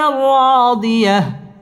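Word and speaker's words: رَّاضِيَةٍ: تا دوي زر تن، ضيا، فهو في عيشة راضية، فهو في عيشة راضية। ফাহুয়া ওয়াও ঠোঁট গোল করে উচ্চারণ করতে হবে।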